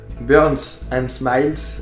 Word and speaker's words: Burns and Smiles: Burn and Smile, Burns and Smiles, le S se prononce en anglais.